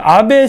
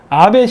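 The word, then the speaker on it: 阿部: 이거를 배라고 읽어요, 배. 배라고 읽는데, 일본에서 그 성씨 중에 배가 들어간 사람들은 한국계입니다.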